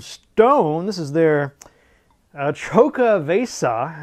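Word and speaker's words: Xocoveza: This is their uh Choco Vesa, I believe is how you pronounce this. Exo C O V E Za for the holidays in the new year.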